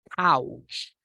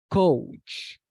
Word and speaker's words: couch: many people say or many students pronounce this noun as coach no be careful because